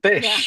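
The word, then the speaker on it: ghoti: Oh, fish. Excellent. Wow. Wait, wait, explain that, Paul. Yeah. So, the word enough terminates in gh which has this f sound.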